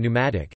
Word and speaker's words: pneumatic: Examples include the B in doubt, debt, dumb, etc., the P in psychology and pneumatic, and the commonly encountered silent E discussed further below.